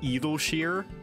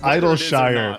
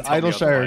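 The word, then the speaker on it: Idyllshire: way i mean it's idle shire yeah it's idol shire no it's idle shire because you idle there that's why it's called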